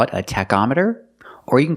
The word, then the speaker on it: tachometer: can call it a tachometer or you can call it the RPM gauge let's call it a tachometer with the word tachometer the CH makes a k sound Tech tachometer you check the tachometer